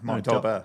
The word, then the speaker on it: Dolbear: I've heard the pronunciation out here is different though, so I'm probably butchering that. No, Dolbear. Dolbear. Dolbear. It's like the emphasis is on a different place.